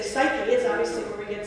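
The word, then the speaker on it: ψυχή: of you the greek word translating soul is pronounced souhey we would look at it in english and say psyche is obviously where we get psychology from good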